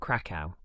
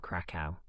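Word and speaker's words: Kraków: Krakow is a city in Poland, and that is, I believe, the correct pronunciation of the name. But it's a bit annoying to have to say a Polish word in the middle of an English sentence every time I want to talk about the city. So, for the rest of the episode, I will be using the normal English pronunciation, Krakow.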